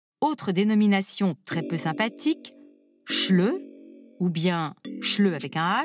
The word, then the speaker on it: Schleu: D'où vient ce mot dont la prononciation avec le son ch rappelle certaines caractéristiques de la langue allemande?